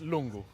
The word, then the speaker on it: Lungu: your face names mate if I say in a Romanian accent it's lungu l I'm going to